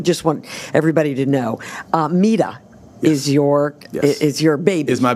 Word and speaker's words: Mida: So whenever you're trying to remember how to say it, or you can correct some people now, and like it's Mida.